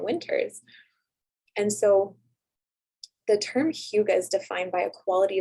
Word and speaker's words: hygge: Another strategy that is actually part of, it's a Danish word called Hyuga, and it's spelled Hygge.